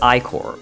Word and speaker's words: Ichor: Ichor is pronounced Icor, but it is also incorrectly pronounced Ichor by many, including me when I first played the game.